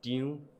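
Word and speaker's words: 張: And Zhang is Diu, totally different.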